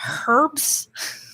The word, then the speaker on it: herbs: Yeah, it's so H, when you pronounce H, is a silent H, but when you put it in front of a word, it's a H sound.